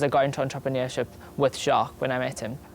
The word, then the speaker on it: Jacques: then you tell them to pronounce it Jacques, not Jack.